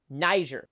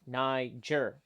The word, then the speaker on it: Niger: are thinking this but this is how you pronounce it Niger say it with me Niger Niger got it okay the Niger River as you